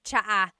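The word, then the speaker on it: tsaa: Cha in Tagalog is tea, like the tea that you drink, and it's spelled ts aa. Cha. Cha. That's such a Tagalog spelling. I love it. There's the ts sound and then the double vowel uh pronunciation. Cha.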